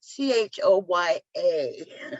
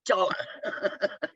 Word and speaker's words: Choya: well, Eh, because it's fiction, I don't have to be adamant about, okay, that's Choya, pronounced Choya. It's not Chola, but it's fiction.